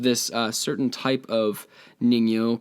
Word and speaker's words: ningyo: a little bit okay this is called the ningyo i'm probably saying it wrong it's spelled n-i-n-g-y-o it has the body of a